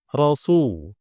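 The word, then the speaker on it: رسول: ya jadi secukupnya saja selanjutnya rasu rasu domah domah bertemu wau domah bertemu wau dalam hal ini adalah Mad Thobi'i ini Mad Thobi'i dhah bertemu wau sukun ya Su ini Mad Thobi'i jadi panjangnya dua harakat dua harakat saja tidak boleh lebih ya muhammadar rasulullah jangan dipanjangkan mengikuti apa eh Irama ya muhammadar rasulullah enggak boleh ya tidak boleh sunya kepanjangan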